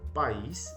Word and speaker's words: país: Então, país é diferente de paz. Olha a pronúncia.